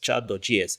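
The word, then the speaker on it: Chart.js: So today we're going to be looking at another wonderful library which is called pronounced chat.js.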